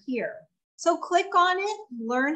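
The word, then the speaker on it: LIRN: And then last but not least, the LEARN, okay? It's spelled not L-E-A-R-N, but it's spelled L-I-R-N.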